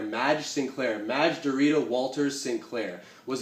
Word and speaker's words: Madge Sinclair: I don't want to butcher the pronunciation of her name. It's Madge Sinclair. Madge Sinclair.